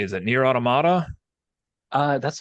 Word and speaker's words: Automata: So I opened up my copy of, I don't even know how you say, is it Near Automata? That's how everyone on the internet pronounces it.